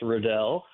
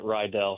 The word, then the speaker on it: Riddell: because, as you said, last name is pronounced Riddell. But, of course, a lot of people would pronounce it Rydell from time to time.